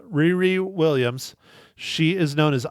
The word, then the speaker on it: Riri: Mike okay so uh Riri is actually rir how you pronounce her name is it's okay I'm not I'm not slamming you Mike you don't know it's uh Riri Williams she is known